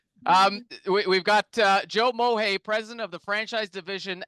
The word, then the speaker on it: Mohay: so my name is Joe mohay just the way it's spelled is the way it sounds so that'll be a